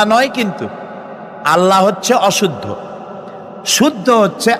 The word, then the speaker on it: আল্লাহ: কি গুণাবলীতে বিশ্বাস আল্লাহর নাম আল্লাহ বলেন তো আল্লাহ নয় কিন্তু আল্লাহ হচ্ছে অশুদ্ধ শুদ্ধ হচ্ছে আল্লাহ বলার সময় মুখটা গোল হয়ে যাবে বলেন তো